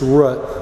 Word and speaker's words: Root: company's name yes it's it's root like the foot of a tree like the foot of